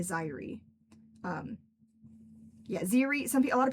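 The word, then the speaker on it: Xyri: So, like, don't feel weird about Ziri. I assume that's how you would pronounce the one that you typed out. But it's Zaire.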